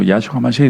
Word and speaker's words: Yahshua HaMashiach: Y yo me refiero en este caso ya a los mesiánicos, porque pronunciar el nombre correcto, Yahshua HaMashiach, y decir que se